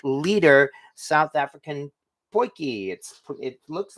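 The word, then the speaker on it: potjie: This is quite frankly an 8 liter South African poiki. It looks like it's spelled podgy, but it's actually pronounced poiki.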